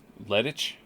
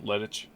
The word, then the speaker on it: Lettich: Lettich? Lettich? Lettich? Lettich? Like lettuce? Yeah, sort of. Lettich. Like Lettich. Okay. Lettich, yeah.